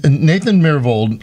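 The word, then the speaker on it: Myhrvold: well so chef let me ask you this nathan miravold am i pronouncing his last name correctly yes that's right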